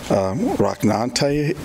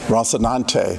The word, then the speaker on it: Rocinante: Oh, I should also say in this first poem, I think I'm pronouncing this right, but you can correct me if I'm wrong. Rocknante is the name of Don Quixote's horse. Pardon? Rocinante.